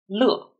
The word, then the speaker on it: 乐: When the character is pronounced as 乐, 乐, it means happy.